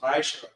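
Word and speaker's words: מעשר: Means 10 in Hebrew, and it's pronounced Ma'asher.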